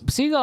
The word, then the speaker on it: Seagal: announce it every time I'm so used to saying Seagal but his name was actually like the bird Steven seagull he thought it sounded